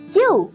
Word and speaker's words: queue: ऐसे ही देखिए और कौन कौन से वर्ड्स हैं जो Q से स्टार्ट होते हैं, जैसे कि Q, ये पूरा वर्ड ही एक लेटर जैसा साउंड करता है, Q की स्पेलिंग है QUEUE, और Q का मतलब होता है एक लाइन में लगना।